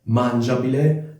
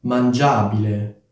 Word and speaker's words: mangiabile: abile e otteniamo mangiabile fate molta attenzione all'accento perché l'accento deve essere sulla vocale che precede il suffisso quindi non è mangiabile ma mangiabile Cosa vuol dire mangiabile